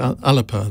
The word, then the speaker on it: Alba: never remember how alex someone told me i had to pronounce it alipa that's the one um